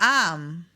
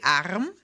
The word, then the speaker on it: Arm: However, this R is not always pronounced as R. So you can say in this particular word, you could say Arm, but honestly, at least